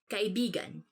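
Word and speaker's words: kaibigan: this word because like you have to say it like this kai bigan because means friend but when you twist it a bit and say it like this that's kind of it's not really a natural way of saying it but it actually means lover so like when you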